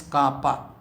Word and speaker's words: kappa: Therefore, it is represented by the Greek letter kappa, that is small k, but it is pronounced as kappa.